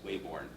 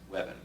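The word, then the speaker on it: Weybourne: The name was originally spelled Wabbourne, which we would read as Wayborn. But I'm told from internet sources that the people in Norfolk pronounce it Webben.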